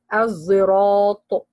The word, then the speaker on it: الصراط: How he pronounce it مفخمة with إطباق, he will say الزراط or زراط.